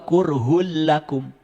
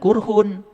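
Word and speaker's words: كُرْهٌ لَّكُمْ: Wa huwa kurhul lakum. Awas, jangan kurhun. Karena apa? Domah dua menghadapi lam. Itu idgham bilaguna. Kurhul lakum.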